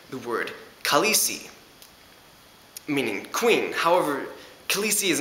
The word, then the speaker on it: Khaleesi: You might have noticed that I pronounced it as Khaleesi, not as Khaleesi. This is because in Dothraki, when you have two vowel symbols next to each other, there's a gap between them.